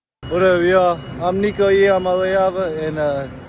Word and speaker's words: Iamaleava: I'm Nico Iamaleava, and the correct way to pronounce my last name is Iamaleava. Iamaleava. Nico Iamaleava. Not too deep. Real easy. Phonetic spelling or phonetic pronunciation.